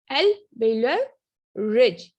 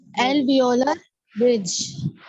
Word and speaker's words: alveolar: एल्वेलर रिज, एलोवेरा नहीं है, एल्वेलर रिज, सही।